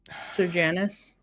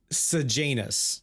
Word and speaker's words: Sejanus: Okay, in the audiobooks, they pronounce it as Sir Janus, right? But it is Sejanus, like Sejanus in the books.